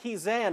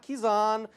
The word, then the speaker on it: Kisan: Gerard there you go running back kisan not kizan kizan I believe it's